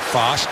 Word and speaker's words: Fast: It's pronounced Fost, F-A-S-T.